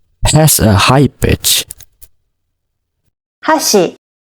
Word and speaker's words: 箸: So hashi has two syllables. The first syllable is ha and the second syllable is shi. You can see in the graphics here, in the hashi chopsticks, the first syllable has a high pitch and the second syllable has a low pitch.